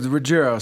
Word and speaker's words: Ruggiero: I pronounced that right, Ruggiero, correct? Well, close. Ruggiero. So Ruggiero. Yeah, there you go. There we go. There you go. I've got to get more Italian in it, right?